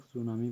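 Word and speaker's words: tsunami: ये इसको हम लोग सुनामी प्रोनाउंस करते हैं, ठीक है।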